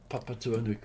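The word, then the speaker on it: Papatūānuku: we go, Chinese, the earth is the mother, papa tuanuku, and that's how they say it in Maori, but every in English we say Mother Earth.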